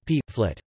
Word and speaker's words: Pflicht: For example, flicht obligation is pronounced flit, or in careful speech, p, flit.